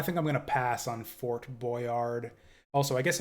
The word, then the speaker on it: Fort Boyard: Yeah, I think I'm gonna pass on Fort Boyard. Also, I guess if it's French, you don't pronounce the D, so it'd be like, or the T either.